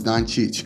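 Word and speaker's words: Dončić: I don't know how he says it, but the way he says it is horrible. So it's Doncic.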